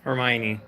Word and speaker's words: Hermione: Did I say it wrong? Hermione. There we go.